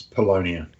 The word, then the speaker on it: Polonia: How do you say it? It's Polonia. Polonia. I need to add that I.